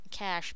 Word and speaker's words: cache: DNS relies on that and as well as cash this is how it makes it faster it's pronounced just like C cash but not the money I mean it's pronounced